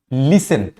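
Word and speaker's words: listen: इन दोनों कॉमिनेशन में अगर कभी भी टी आता है एस टी ई एम या फिर एस टी एल ई तो वहां पे टी क्या हो जाता है साइलेंट हो जाता है फॉर एग्जांपल लिसन लिसन यहां पे टी क्या होता जाता है साइलेंट होता है पासन फसन यहां पे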